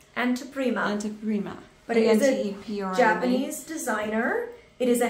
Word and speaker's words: Anteprima: I cannot pronounce the name of the brand. It's Anteprima. Anteprima.